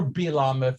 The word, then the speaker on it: Balaam: do you know about balaam or bilaam if it's going to be pronounced correctly but i call him balam because i always have um what do